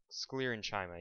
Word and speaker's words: sclerenchyma: is it's called the sclerenchyma i i i sclerenchyma yeah that's it it's just pronounced weird i'll go ahead and write that